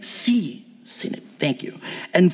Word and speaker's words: synod: Am I pronouncing that right? Synod.